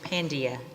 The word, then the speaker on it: Pandya: is just perfect and pandia is how we pronounce it Iran for down with